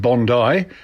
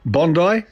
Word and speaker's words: Bondi: it's a big beach in Sydney and you pronounce it Bondi as in Bo ND - ey e even though it is spelt Bondi bo in di so it's Bondi and it's Bondi blue Dave you got caught